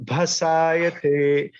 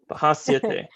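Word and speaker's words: भासयते: Natad bhasayate. It's one syllable. Pasayate. Yeah, it's one syllable. It's got a ha to it, but it's still one syllable.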